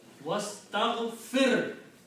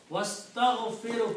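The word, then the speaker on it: وَاسْتَغْفِرْهُ: Hamzatul wasl, which means do not pronounce alif.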